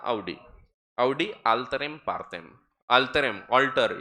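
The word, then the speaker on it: Audi: Proper करें तो actually उसका प्रोनाउंसिएशन जो ऑडी कार है वो भी ऑडी नहीं है, तो वो आउडी है, तो अपन लोग ऑडी बोलते हैं उसको। हाँ एक्चुअल में उसका एक्चुअल प्रोनाउंसिएशन आउडी है।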